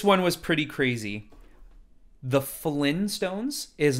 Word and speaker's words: Flintstones: You can hear the T. You slightly hear it. Flintstones. Yeah. Flintstones.